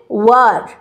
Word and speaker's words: were: এটা কিন্তু ওয়্যার না, আমরা ওয়্যার করে উচ্চারণ করি না, কিন্তু তা না, এটা হচ্ছে ওয়ার।